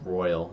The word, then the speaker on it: Royale: It's called It's pronounced royal instead of royale.